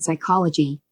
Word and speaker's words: psychology: P is sometimes not pronounced as in psychology.